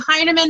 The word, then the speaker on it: Hinerman: Tonight we have a special speaker, Kimmie Hinerman. Is that how I pronounce that?